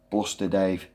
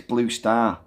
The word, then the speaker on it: Blue Star: ages, in my mind, I read his name and I used to pronounce it Bluster Dave. It's Blue Star, after the Newcastle brewery, because he's a Geordie.